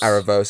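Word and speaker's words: Aaravos: whatever his name is Aros Aros as how you pronounce it obviously that's two arcs so far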